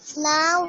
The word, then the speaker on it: know: KNOW, K आपका silent letter रहता है.